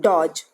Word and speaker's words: dodge: DG e as in Dodge do t GE Dodge say aloud the falling was ending with d GE children do d GE the pronunciation is Dodge the second E is silent